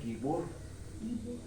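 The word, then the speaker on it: גִּבּוֹר: que pero se pronuncia guibor guibor fuerte guerrero, guerrero, poderoso, fuerte, valiente, esforzado, varón de guerra.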